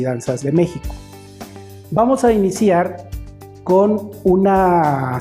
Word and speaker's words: México: a dividir esa palabra se divide en tres sílabas la primera sílaba acentuada entonces vamos a decir al niño que repita la palabra mexico siempre dándole énfasis al acento me pico méxico